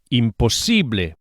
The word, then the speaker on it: imposible: Don't forget to stress this C, imposible.